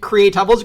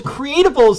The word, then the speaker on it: Creatubbles: makes thinking that they know exactly how to pronounce things um in calling it create doubles creatables make so much more sense now now that